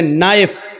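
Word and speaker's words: knife: जैसे इंग्लिश में नाइफ किसको कहते हैं? चाकू को। नाइफ के माना चाकू, लेकिन के लिखा जाता है, बोला नहीं जाता, वो साइलेंट रहता है।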